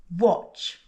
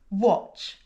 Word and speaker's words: watch: So, the "t" in watch is silent. So, listen and repeat - "watch", "watch", "watch".